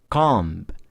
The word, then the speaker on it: comb: Oke, jadi kita bukan comb, tapi comb. Comb. Lalu kemudian dat. Dat. Dot. Dot. Thumb. Thumb. Okay? So here, after you pronounce this, one thing that you have to understand that we do not pronounce here. So, we don't have to pronounce this.